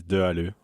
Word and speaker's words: de Halleux: you say your name my last name is do i do do i do i do yeah that nasal sound pretty hard i've receive every possible